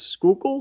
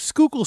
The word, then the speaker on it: Schuylkill: of like you know I cheated and looked it up how to pronounce that and I think it's Schuylkill so you're extremely close